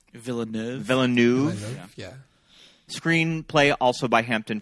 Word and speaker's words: Villeneuve: Did I pronounce that right? Villeneuve.